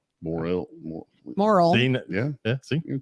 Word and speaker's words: Morrill: Look, his has an I in it, and we don't pronounce it. Morrill.